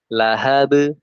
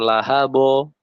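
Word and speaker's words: لهب: Lahab, lahab. Nah, bukan lahabo. Nah, itu tebal.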